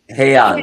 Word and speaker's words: Heian: Is that how it's The pronounced? Heian, Heian.